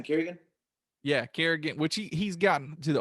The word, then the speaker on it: Kerrigan: Yeah, Kerrigan, which he's gotten to the older side, but